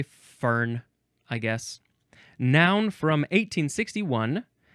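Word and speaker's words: Föhn: Oh, that one is spelled fo hn if I didn't say. A warm dry wind. A fern.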